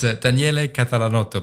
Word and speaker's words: Daniele Catalanotto: It's Daniele Catalanotto, but you did it very well.